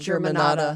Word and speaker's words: Germanotta: Germanotta.